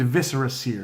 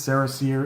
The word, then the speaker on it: Viscera Seer: Japanese or Chinese card named viscera seer don't say this Sarris year it's just wrong pet peeve of mine